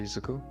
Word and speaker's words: Izuku: Midoriya Izuku.